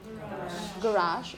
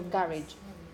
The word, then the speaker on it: garage: and then you have for example this word of French origin so some people decide to keep the French origin and they say garage okay however most of these words that originally came from French are pronounced with these ending so garage yes how would you say yeah I guess most people would say that way yeah as I say